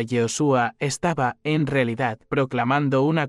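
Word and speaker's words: יהושע: La forma más antigua y completa era Yoshua. Yod era la forma abreviada del nombre divino. YHWH, Shua venía del verbo yasá, que significa salvar, liberar, rescatar. Cada vez que alguien pronunciaba Yehoshua, estaba, en realidad, proclamando una confesión y o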